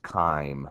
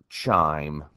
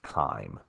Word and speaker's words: chyme: to as chyme uh I know it has a CH there but it is pronounced chyme almost as if it started with a K so it's not chime it is pronounced chyme chyme is the result